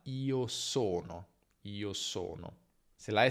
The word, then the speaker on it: sono: Quindi attenzione a non dire io sono, che è un errore tipico che fa chi parla tedesco, ma io sono, io sono.